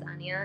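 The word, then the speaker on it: Anja: i'm saying it correctly i think it's anya it's spelled as a-n-j-a-n-j-a it is the prettiest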